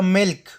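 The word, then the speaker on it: milk: دا توری هم بعض استثناګان لري، لکه ملک. هغې کې چې دی ال بیا تلفظ کېږي، ملک شیدو.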